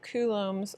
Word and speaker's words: Coulomb: going to talk about Coulomb's law that's pronounced Coulomb like ku like you're a pigeon Lum like it doesn't even have a B in it Coulomb Coulomb's law and